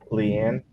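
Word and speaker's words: Liana: He's Evie, Tiffany, and Leanne. How you say it? Leanna, yeah.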